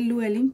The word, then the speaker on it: Llewellyn: de lublín luguelin publications esta luna de llewellyn se lee se lee luguelin pero así se escribe y pueden ver que